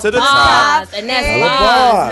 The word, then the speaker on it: Bahhs: And that's Boz, not Bars. Not Bars, Boz, because she got Boz. Yes. So can you explain the name to us, Boz, as opposed to Bars?